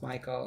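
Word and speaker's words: Mykal: y k a l i think it's pronounced michael again same michael michelle harris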